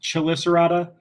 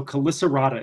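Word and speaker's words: Chelicerata: invertebrates club typically though whenever we see that ch it usually is pronounced as a k sound so callisterata is where we land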